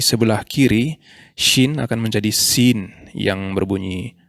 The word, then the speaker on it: sin: Dan jika titiknya di sebelah kiri, Shin akan menjadi Sin yang berbunyi S seperti S dalam bahasa Indonesia.